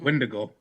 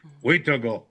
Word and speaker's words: Witago: A lot of people that aren't native call it Wendigo. Mom taught me Cree, Witago. That's how you say it.